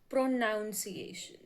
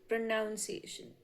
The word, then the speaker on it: pronunciation: Second word is pronunciation. We have always spoke it pronunciation but it is pronunciation.